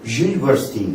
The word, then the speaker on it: university: 수잔 이다 is 대학생이니까 a university student를 해주셔야 되는데 un 발음 뭡니까? z 소리가 난다 그랬죠. university.